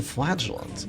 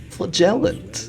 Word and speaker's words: Flagellant: about the Flagellant, or apparently and canonically, Flagellant. That's right, Flagellant. Some people are crazy enough to pronounce it Flagellant, and apparently Wayne June is one of those people. If you've seen the DD2 shrines for the Flagellant, he pronounces it as just that, and I honestly hate the pronunciation. It doesn't make any sense to me, but you know, it is now canonically Flagellant.